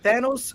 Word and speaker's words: Thanos: Thanos rhymes with Davos.